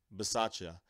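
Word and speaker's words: Bisaccia: confirmed already then we know already that rich masaccio that's how you pronounce his name will be that's the cowboy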